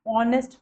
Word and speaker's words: honest: An honest person, not as an honest person नहीं पढ़ेंगे.